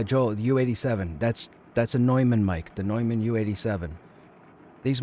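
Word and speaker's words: Neumann: there's a company called nman or Newman however you want to pronounce it NE M Ann and a couple of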